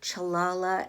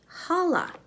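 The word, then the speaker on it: challah: i thought was called chalala and basketball but i looked up how you pronounce this type of jewish bread and it's pronounced holla so it's holla and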